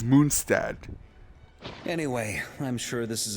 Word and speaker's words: Mondstadt: And yeah, guys, apparently to pronounce Mondstadt correctly, you have to say it in his German name, which is Moonstad.